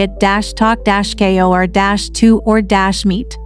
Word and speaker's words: Ittoqqortoormiit: Ittoqqortoormiit, Greenland, population, around 350 people. Now, I know what you're thinking. How do you even pronounce that? It's roughly at -talk-ko or -2 or -meet, and it means the big house people in Greenlandic.